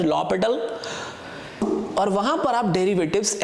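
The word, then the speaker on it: L'Hôpital: वहां पर partial derivative का डेफिनेशन यूज हो सकता है, एल हॉस्पिटल रूल यूज हो सकता है, basically it is pronounced as लॉपिटल, और वहां पर आप डेरिवेटिव्स ऐसे फाइंड कर सकते हैं.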